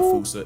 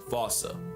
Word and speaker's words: fossa: But, if you follow the Attenborough rule, Sir David would have had you saying "fossa".